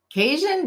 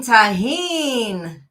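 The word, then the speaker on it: Tajín: And my husband's like, what in the world is Tajin? Like, Cajun? Do you mean Cajun? No, Tajin. Oh, you mean tahine. He's like, oh, that's how you say it?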